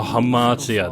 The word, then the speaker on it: Hxmartia: Oh, Hxmartia, that's how you say it.